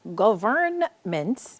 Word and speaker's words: government: so it is spelled governments even though you don't really emphasize the sound of the ending there so you really do say government but the n is in there hiding is silent all right so let's